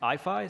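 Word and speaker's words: IAIFI: Um so we pronounce the abbreviation for our institute IFI.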